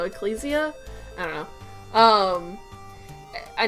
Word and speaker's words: Ecclesia: designs in order of Ecclesia or I I guess that's how it's pronounced I guess like Ecclesiastes so Ecclesia I don't know um